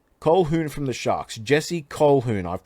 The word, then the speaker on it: Colquhoun: Jesse Colquhoun. I've pronounced it right, I swear to you.